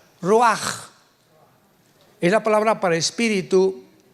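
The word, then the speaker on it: ruach: a c h pero la ch en el hebreo se pronuncia como J raj es la palabra para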